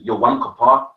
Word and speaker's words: Yom Kippur: The real pronunciation is Yom Kippur.